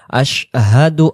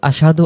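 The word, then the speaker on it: أشهد: এজন্য কালিমা শাহাদাতের ক্ষেত্রে আমরা পড়ব আশহাদু আল্লা ইলাহা ইল্লাল্লাহু। আমার সাথে সাথে আশহাদু আল্লাহ। ইলাহা ইল্লাল্লাহু আর যদি আশহাদু আশাদু আশাদু বলি তাহলে সিনে জবর হয়ে যাচ্ছে তাহলে উচ্চারণ স্পষ্ট করে আশহাদু আল্লা ইলাহা ইল্লাল্লাহু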